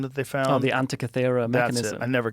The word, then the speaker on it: Antikythera: Oh, the Antikythera mechanism.